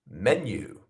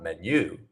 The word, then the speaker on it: menu: so we know that we have the first syllable as our stressed syllable. So not menu, it's menu.